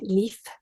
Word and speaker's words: Liv: We have friends from Norway living in Norway, and when I was expecting, we went there, and they pronounce a name Leaf, Leaf, and it's an old-fashioned grandma name, and we just loved it.